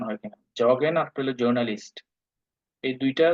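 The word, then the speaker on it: Journalist: আর আরেকটা ওয়ার্ড আছে, নাম হলো জার্নালিস্ট। ইংলিশে যদি বলি জার্নালিস্ট, আর জার্মানরা বলে জর্নালিস্ট।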